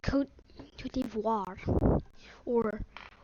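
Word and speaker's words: Côte d'Ivoire: southward and expands all the way up to coat to devoir that's actually the name to pronounce it but actually it's just called the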